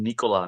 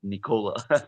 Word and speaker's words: Nikola: Yeah, he is trying to prove to everybody to pronounce his name Nikola, not Nicola.